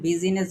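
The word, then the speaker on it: business: যদি আমাদের আই থাকে তাহলে আমাদের আই এর উচ্চারণ হয় না তাহলে আমরা কিন্তু এটাকে বিজনেস বলি না তাহলে আপনি সহজভাবে মনে রাখবেন বিজনেস বানানোর ভিতরে আ এর উচ্চারণ হয় না।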